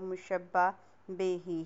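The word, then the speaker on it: مشبہ بہ: उसमें पहला मुशब्बा, दूसरा مشبہ بے ہی، اس کو مشبہ بے بھی کہتے ہیں، لیکن صحیح تلفظ جو ہے وہ مشبہ بے ہی ہے۔ اس کے بعد تیسرا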